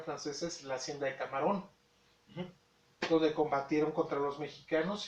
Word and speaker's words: Camarón: La hacienda de Camarón, como lo pronunciaban muy mal los franceses, no pronunciaban Camarón, pronunciaban Camerún. Y de ahí le pusieron a esa esquina de África, Camerún.